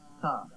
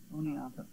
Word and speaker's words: Oneonta: Tell Steve it's pronounced Oneonta. Oneonta.